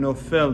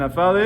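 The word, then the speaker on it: נופל: the word nafal and no fell means Novell is present and nafale is pass it's written which is like read as nafal but the way you pronounce it is nofel meaning he is falling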